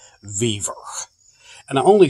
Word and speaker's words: Vevor: It's called a Vevor. At least that's how I'm going to pronounce it. Vevor.